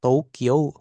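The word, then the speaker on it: 東京: Jadi Tokyo Tokyo jadi bacanya tuh O-nya aja panjangin O dari yang di sito. O dari to sama O dari Kyo. Iya. Ko. Hm. Tokyo heeh ya. Tokyo gitu ya. Jadi U-nya tuh enggak usah jangan dibaca U-nya. Jadi bacanya O-nya aja, tapi O-nya panjangin.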